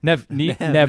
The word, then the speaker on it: Neve: And is it Nev? Nev Campbell. Sorry. It's Nev. I knew it was Nev, but it's spelled like Neve.